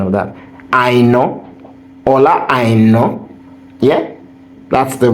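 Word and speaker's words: Aina: points guys let me tell you the real pronunciation of that I knowa I know yeah that's the real pronunciation as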